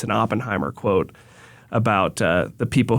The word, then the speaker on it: Oppenheimer: not so this is J Robert you said Oppenheimer that's how you say it okay father of